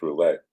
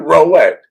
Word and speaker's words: roulette: But uh you got to learn to pronounce roulette. Rolex. What did I say? You said Rooulette. Like it's a watch.